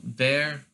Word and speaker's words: wer: So wer, in German, usually W's are pronounced with a sort of like a V sound. So you're not saying where, but you're saying there. So like sort of like a V instead of a W.